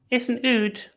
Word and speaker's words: oud: It's not even a lute, then it's an oud. What is Oud. nude? Oud. How do you spell that?